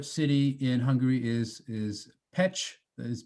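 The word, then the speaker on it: Pécs: now a smaller city in hungary is is petch that is pronounced petch and i like this slide because it actually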